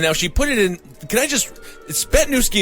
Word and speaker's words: Zbytniewski: Mike Ponder, Matthew Stevens, Pamela Froze, Christina Spetnewski, and now she put it in, Spetnewski is how it's pronounced, because she gave us the thing there, but it's spelled ZBYTNIEWSKI.